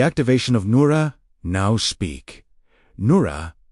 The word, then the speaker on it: Noora: Noora, pronounced N O O R. Let the R carry a slight vibration, not a hard R, but a living one.